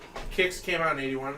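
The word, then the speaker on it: Qix: yeah no no no kicks kicks is tough and for years by the way in arcades it was called quicks nobody knew how to pronounce it that's a that's a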